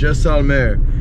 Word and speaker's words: Jaisalmer: We're going to be driving overnight all the way to Jaisalmer, right? That's how you say it? Yes. Jaisalmer.